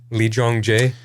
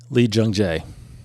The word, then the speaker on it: Lee Jung-jae: Lee Jung-jae. Lee Jung-jae.